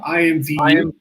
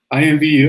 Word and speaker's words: IMVU: what he's doing with at what was the pronunciation? IMVU. IMVU, as his company IMVU.